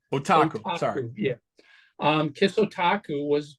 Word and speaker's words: Otaku: Is that how you pronounce that? Otaku. Otaku.